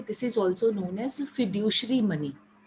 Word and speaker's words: fiduciary: ये जो non legal tender money है बेटे, this is also known as फिड्यूशरी money. फिड्यूशरी spellings है FIDUCIARY, ठीक है.